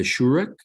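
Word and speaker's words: שורוק: After that, we have the shurak, which is oo as in pool as well.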